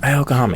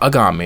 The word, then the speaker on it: Algami: Pronunciation, because it's not Agami. It's not Aogami. It's Algami. It seems.